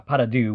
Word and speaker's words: pas de deux: way the title the meaning behind it uh paradou which is by the way a pronunciation that I looked up on YouTube uh